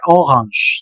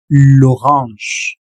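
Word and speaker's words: l'orange: Ojo, no se pronuncia como en inglés porque mucha gente me dice orang. No, no, no. Aquí la pronunciación sería lorange ahí mero.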